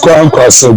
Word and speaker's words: Kwankwaso: How do you pronounce his name again? With Kwankwaso, go ahead.